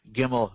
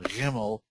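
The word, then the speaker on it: גימל: sounds or general are it's either gimel giml or gimmel jimil doll it is dollar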